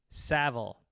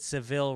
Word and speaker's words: Savile: gavel when you say, think of gavel when you say Savile. Don't pronounce it like the cat. I was talking about Savile Row, and I guess I said Seville Row. I probably would have said the same thing, yeah. Don't pronounce it like Cadillac model, dumbass.